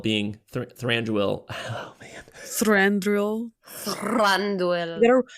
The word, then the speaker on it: Thranduil: Thranduil. You gotta roll your R's.